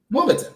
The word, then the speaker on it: Wimbledon: How do you pronounce it? Wimbledon.